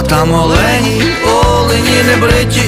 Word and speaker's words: олень: всі наголоси над оленями правильний наголос на перший склад як в однині так і в множині олень ось такий короткий гайд